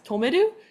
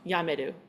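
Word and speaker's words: 止める: So if we see the kanji like this, it will be pronounced as tomeru and not yameru.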